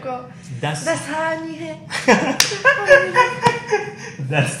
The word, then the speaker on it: Dasani: Das Hani. That's Like perfect. crap. Like you go for the first syllable like a little bit long, like dasani, like that.